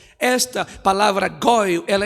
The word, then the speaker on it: Goel: A palavra Redentor em hebraico se pronuncia Goel ou Goi. Esta palavra Goel, ela é usada, irmãos,